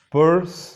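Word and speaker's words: Peirce: por Charles Sanders s pur es como el sonido de la pronunciación de este apellido es como si fuera monedero en inglés sí pe la primera lógica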